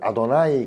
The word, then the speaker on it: 아도나이: 그냥 신성사자라 그래서 이건 아도나이 그러면서 그냥 이 단어를 읽지 않으면 주님이라고 개념이 아도나이 그래. 아도나이로 읽어요. 여호와라고 읽지 않습니다.